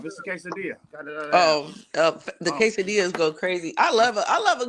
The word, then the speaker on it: quesadilla: Got Oh, the quesadillas go crazy. I love a I love a good quesadilla order in person. I'm glad you said it right. Not quadilla like most people be doing.